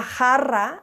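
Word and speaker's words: jarra: um maybe you're familiar with asking for una Hara de cerveza a jar of beer yeah a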